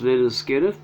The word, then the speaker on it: Lynyrd Skynyrd: their best known album their debut pronounced little skinner this one was this